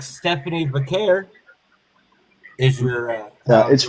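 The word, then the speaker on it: Vaquer: Just like Stephanie Vair is your uh It's pronounced Vqu.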